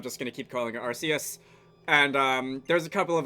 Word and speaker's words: Arceus: pronounce it Arceus, and the pun itself is like Arc, as in highest, as in like the god Pokemon. But, I think that sounds lame, and I'm just gonna keep calling it Arceus.